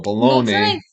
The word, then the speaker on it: bologna: get to blogging about bologna so baloney and I was like wait what he does say it like that yeah so he's intentionally mispronouncing baloney to make it rhyme you know blogging about